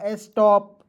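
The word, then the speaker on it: stop: और दो कंसोनेंट के बीच में ओ आएगा। इसका उच्चारण औ के रूप में करते हैं। ठीक है? हो जाएगा स्टॉप वाज़।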